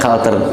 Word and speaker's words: culture: atau material kultur ya kita menulisnya kulture tapi dibacanya kalter bahasa yang jujur itu